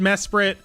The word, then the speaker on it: Mesprit: this pretty mess spirit I know it's pronounced Mesprit look I'm from the universe where there was an eye in there I don't know